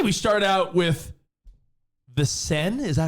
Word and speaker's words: Seine: I say we start out with the Seine. Is that how you say it? The Seine?